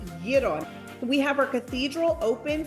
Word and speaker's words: gyro: It's important that you know how to say it the right way. It's gyro.